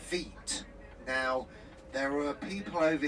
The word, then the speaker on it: Wight: It's a derivative from Veet.